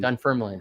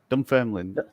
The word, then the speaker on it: Dunfermline: so there you go it is dumb family it is Scotland done firmly okay done firmly dunfermline the extra syllables I'm not so good yeah um I used